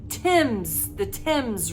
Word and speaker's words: Thames: I don't know why, but it's the Thames River, okay? That's how you're supposed to pronounce it, apparently.